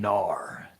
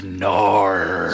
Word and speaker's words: Knarr: The first one, Brandon Narr. Oh, shred the Narr. Spelled with a K, not a G. Knarr. 2 R's.